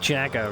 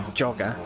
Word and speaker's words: Jagger: I mean, how can you get Jagger wrong? I don't get it. It's completely different to jogger.